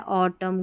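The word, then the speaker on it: autumn: तो हां एम एन का कॉम्बिनेशन है। एमबी का था वो। तो यहां पर एन जो है ना ये साइलेंट रहता है। ऑटम कॉलम सोलम इस तरीके से एन साइलेंट है।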